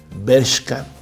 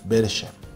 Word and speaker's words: Bershka: Te ofrezco una disculpa gigantesca, así de aquí a la luna en milímetros, por no pronunciar bien el nombre de tu tienda favorita, Bershka. Yo lo dije mal, dije Bersha.